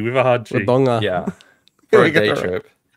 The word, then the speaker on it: Wodonga: Are you supposed to say Wodonga? Wodonga. Albury Wodonga. Yeah, anyway, I was nearly at your house. Wodonga. With a hard G. Wodonga.